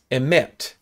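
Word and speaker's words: אמת: It's emet. Okay, Hebrew is written from right to left, and this word emet is spelled Aleph Mem Tav.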